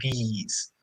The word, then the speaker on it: these: for when it's plural, you have to smile a bit more, so you say these. Yeah, you do have to smile these.